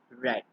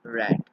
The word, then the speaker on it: read: will be read but the past simple will be pronounced as red and past participle will again be pronounced as red so read r r